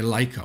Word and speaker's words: Leica: Then you have many options, many filters made by Leica, or Leica if you want the other pronunciation.